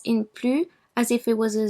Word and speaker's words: plus: Also, in the comparative expressing superiority, when que is placed immediately after plus, the S in plus is pronounced.